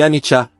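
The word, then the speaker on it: anicca: Anica, pronúncia-se anicha, é a palavra empali para impermanência.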